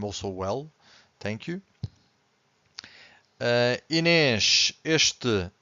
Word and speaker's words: este: The word starts with ES consonant, but we have to stress the first syllable. So in this case, we have to say este, so you can clearly hear the first syllable.